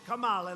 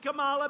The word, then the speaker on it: Kamala: Kamala, like a comma.